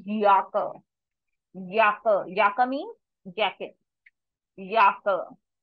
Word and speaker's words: Jacke: will be y so this is not jaka this is yaka yaka yaka means jacket